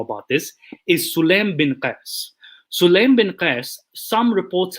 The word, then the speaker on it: Qais: Is it Qais? Q-A-Y-S. Yes. Qais, okay.